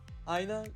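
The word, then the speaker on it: ʻāina: today's hawaiian word of the week is aina aina is pronounced and it means a land or literally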